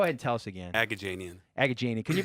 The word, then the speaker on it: Agajanian: name but go ahead and tell us again agajanian a gajini cuz you pronounce that for me janian alright so